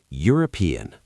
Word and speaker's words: European: European. A European. European starts with U sound, consonant sound, a.